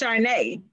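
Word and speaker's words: Caarne: that all the time my name is spell as you will know c-a-a-r-n-e yeah but it is pronounced charnay so this whole evolution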